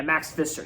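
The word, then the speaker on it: Max Fischer: year old teenager named Max fetcher like yeah Max Fister yeah that's how you say it so Rushmore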